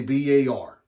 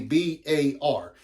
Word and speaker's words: BAR: also known as the BAR. No, not a bar, a BAR. Even though a lot of people call it a bar, that's not really the correct pronunciation.